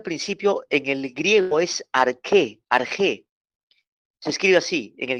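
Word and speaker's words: ἀρχή: la palabra al principio en el griego es arqué se escribe así en el griego a r J E arg o se pronuncia arqué principio significa eternidad principio con antelación pasado tiempo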